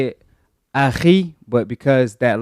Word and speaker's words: akhi: You're supposed to say it Aki, but because that letter is not in English, it's pronounced as Aki in English.